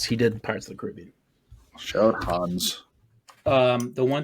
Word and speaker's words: Caribbean: Do you say Caribbean or Caribbean? I say Caribbean. Jacob? I think I would say it should be Caribbean, but I'm tempted to say Caribbean.